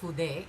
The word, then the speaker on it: fude: So it's supposed to be called fude instead of feud ball, which, okay, sounds closer to Spanish to me.